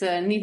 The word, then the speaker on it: Niamh: is spelled ni M it's an Irish name pronounced NE um but yeah I